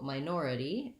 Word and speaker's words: minority: end with this so minority has second syllable stress the first syllable sounds like my it has the diphthong i so in the ipa